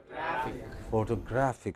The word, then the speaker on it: photographic: is it now okay but when you add ic to it then what does it become photographic so you know three